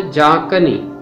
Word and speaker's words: جاں کنی: ہے بکھیرنا یا چھڑکنا۔ اس لفظ کا تلفظ ہے جاں کنی۔ جاں کنی کا مطلب